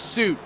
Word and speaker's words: Suit: trying to pressure Mason Sweet into a mistake, which he did last Oh, I'm lap. saying his last name wrong. I forgot he corrected me on that. It's Suit. Mason Suit.